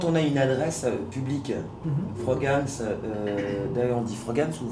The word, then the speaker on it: Frogans: Non, c'est un peu comme vous voulez, on peut le prononcer, mais c'est juste Frogames.